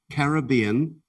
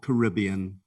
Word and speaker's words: Caribbean: speller number 21 now your word has two possible uh pronunciations you can have either caribbean or caribbean caribbean or caribbean caribbean